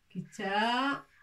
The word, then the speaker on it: كتاب: Kitabun.